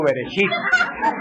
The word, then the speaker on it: Bereshit: No, shibirichibi, no, bereshit.